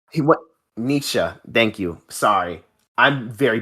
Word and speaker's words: Nietzsche: Nietzsche? He what Nietzsche. Thank you. Sorry, I'm very bad with pronunciations.